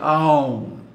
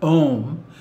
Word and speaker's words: Aum: And it's why we always pronounce it Aum, not Om.